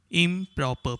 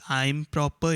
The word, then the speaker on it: improper: incomplete pack unpack proper improper please note this is not pronounced as i'm proper it is improper next one correct incorrect